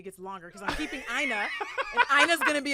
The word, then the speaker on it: Aina: So for example, my last name, Aina, in Yoruba is actually pronounced like more like Aino, and it means man born with an umbilical cord wrapped around his neck.